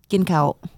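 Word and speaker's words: ກິນເຂົ້າ: Gin kaut. Gin kaut. Gin kaut. Gin kaut. Mm-hmm. Right? Yep. You got to pronunciate. Gin kaut. You got to go up with the inflection instead of down with the inflection.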